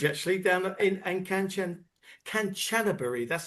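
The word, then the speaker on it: Kanchanaburi: Hey, we've just been down to the bridge actually down in in Cananan Canchanbury, that's how you say it, is the actual town.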